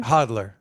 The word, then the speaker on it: hodl: Hodler or hodler? I mean, it is Pick what one, it is, bro. pick one. It's our generation here, baby. Pick one. Is Hodler, it baby. hodler?